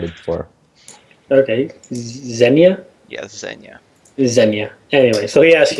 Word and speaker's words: Xena: pronouncing her name wrong it's not Zena zenya like like the Russian zenya zenya I have no